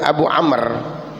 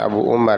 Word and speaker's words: Abu Amr: Imam Ibnu Katsir dan Abu Amr bukan Abu Umar ya Bu Hammer itu